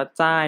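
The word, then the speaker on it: 在: ที่ 3 นะ ครับ คำ นี้ อ่าน ว่า ใต้ เนาะ ใต้ คำ นี้ นะ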